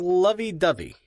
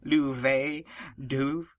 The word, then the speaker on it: Lovey-Dovey: Lovey-Dovey. Actually, sir, it's pronounced Louvet-Douve. The last Y is silent.